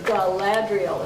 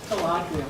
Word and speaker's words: Galadriel: By the way, Galadriel is how you say that. Galadriel.